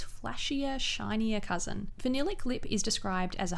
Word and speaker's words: Vinylic: In several earlier videos, I mispronounced it as Vinylic Lip because I always read it like a lick of vinyl, but it's Vinylic.